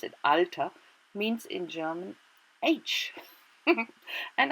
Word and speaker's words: Alter: The same word, alter, we call it, we pronounce it alter, means in German age.